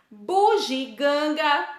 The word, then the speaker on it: bugiganga: bandeja que está errado bugiganga que costumamos falar buginganga acrescentando um um n um som na na aula aí né benefícios sempre